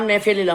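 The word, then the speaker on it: Gnaphalium: English में English में इसमें जी साइलेंट है इसलिए जिम मत देखिए इसमें अब देखिए इसका नाम है नफरत ट्रंप ने फ्रेनुलम इसका नाम ने फिल्म में इसकी दवा इसमें जी बिल्कुल साइलेंट है आपको साफ क्लियर दिख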